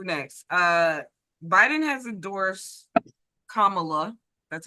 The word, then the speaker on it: Kamala: we gonna do next uh Biden has endorsed Kamala that's how you say her name like K